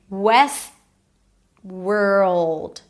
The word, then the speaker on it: Westworld: So, I don't really pronounce the T. It's not west. West. Moving on to the next word. World. West.orld. Okay. West. world.